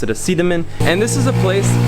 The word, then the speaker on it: Sidemen: it's actually spelled Seidman but the locals here pronounce it a see them in and this is a place where people will